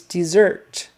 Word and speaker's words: dessert: um Jack Rabbits whatever desert versus dessert um similar sounds but the accent is on the second syllable desert it's also spelled